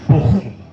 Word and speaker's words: Bochum: Ça s'écrit Bochum, mais ça se lit Bochum. Donc c'est un peu comme du flamand, c'est de l'allemand.